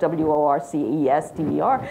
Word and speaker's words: Worcester: at Worcester Polytechnic fight the fact that it's spelled wor c est er it's Worcester it's one of those oddities of Massachusetts we have many oddities